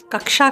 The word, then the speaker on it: कक्षा: वह गायब हो गया दरअसल क् जो अक्षर है कक्षा का क् जो अक्षर है वो क और श से मिलकर बनता है क प्लस श इक्वल टू क् इसलिए उसका उच्चारण में क और क् दोनों का उच्चारण होता है जैसे क्षमा क्षत्रिय कक्षा